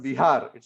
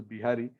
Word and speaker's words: Vihari: Here the word Bihari comes originally from the word Vihar. It's actually Vihari. Sometimes in Hindi it is pronounced as Bihari.